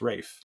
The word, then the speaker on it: Ralph: something but it's not it's spelled Ralph but it's pronounced Rafe yeah I I uh